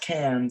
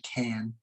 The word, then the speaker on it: Cannes: that's in france and it's not pronounced cans like i was pronouncing it earlier it's actually cannes he was very frustrated